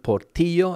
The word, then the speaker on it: Portillo: But I'm sure Mr. Portillo, or Mr. Portillo, as his name would be pronounced here in Spain, has an interesting story to tell.